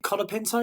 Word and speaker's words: Colapinto: Someone else who's come from F2, Franco, is it Colapinto? It is how you spell it.